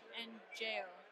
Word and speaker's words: añejo: He said añejo, tequila añejo, is pronounced angeo.